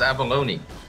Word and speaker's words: abalone: know there's an entire YouTube channel just for pronouncing words yes genius yes oh it's Abalone Abal Abalone you're right oh sweet it's not